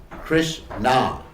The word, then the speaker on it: Krishna: Krishna. It's composed of two syllables. Krish, which means to attract, and Na, which is short for Ananda, which means unlimited happiness, unlimited bliss.